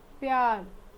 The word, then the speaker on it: प्यार: चलिए, अगला शब्द है प जोड़ या जोड़ र, प्यार, लव।